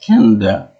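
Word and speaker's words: Kaneda: Can Yeah, it's pronounced Canada like the country.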